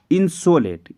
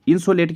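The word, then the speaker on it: insolate: और वर्ड होता है इसे इंसुलेट से कंफ्यूज मत करना इंसुलेट को स्पेलिंग होती है इंसुलेट की आई एन एस ओ एल ए टी ई ठीक है इन सोलेट इन सोलेट क्या होता है जैसे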